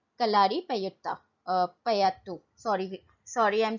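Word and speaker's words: Kalaripayattu: Gatka, Thangta, मलखंबा एंड कल्लारी पयुत्ता. ठीक है, कलारी पयुत्ता, पयात्तू, sorry I एम so sorry for the pronunciation, कलारी पयात्तू.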